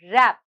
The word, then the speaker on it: wrap: letter n is silent our last word is rap wrap wrap here the letter w is silent so children i hope